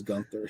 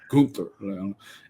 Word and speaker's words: Gunther: They took I hope I said that right because I know he doesn't pronounce it as Gunther. He's like Gunther.